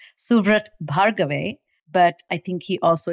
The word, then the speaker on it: Suvrat Bhargave: very dear friend and his name is officially pronounced suat bhave but I think he also is fly known